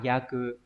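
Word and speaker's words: 約: Ước đọc là yaku, hay dùng để đoán, đúng không nhỉ?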